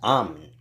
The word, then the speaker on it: Amun: Now, when you're dealing with Amun, Amun is pronounced Am. No different than in the Far East with OM, which is Am.